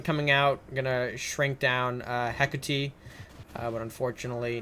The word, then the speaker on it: Hecate: I'm pronouncing the card wrong. Hekuti? Hekuti. I believe it. Yes. Hecate. Yes, that's the pronunciation.